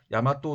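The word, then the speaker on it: 大和: 외라고 하는 나라가 동쪽으로 이동했다라고 하는 뜻인데 그래서 4세기 경에는 대화, 즉 일본어 발음으로 야마토 정권이 생겨나게 됩니다.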